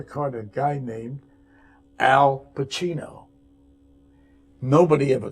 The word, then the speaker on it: Pacino: You say Pacini. And school, when I went to school, they'd always be saying Pacuni, Pacani. Yeah, I would have said Pacino. Pacino, yeah. Right. No. Pacino, and he pronounced it right.